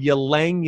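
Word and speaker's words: ylang-ylang: oil for uplift uplifting the mood it's called yo langya ylang that's spelled y la ng y la ng okay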